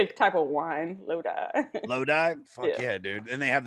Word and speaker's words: Lodi: with their next release bad moon rising and lottie in august they released their third rec what